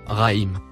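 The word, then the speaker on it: رحيم: Le deuxième mot écrit en violet, se prononce « Rahim ».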